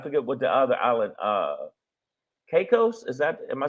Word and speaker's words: Caicos: Caicos. Am I saying it right? The Turks and Caicos.